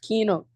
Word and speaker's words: Kaino: It is actually pronounced Kino.